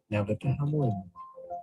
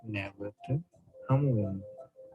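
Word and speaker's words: නැවත හමුවෙමු: Navata Hamuam. Navata Hamuam.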